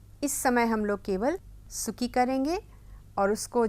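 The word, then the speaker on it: 好き: समय हम लोग केवल सुकी करेंगे और उसको जापानी में कहा जाता है स्की। सुकी नहीं कहा जाता है, बहुत ज़्यादा, बहुत हल्का सा ऊ का उच्चारण किया जाता है।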